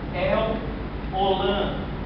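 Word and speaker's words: El Olam: aqui ó e etno no hebraico se pronuncia el olan ou seja Deus eterno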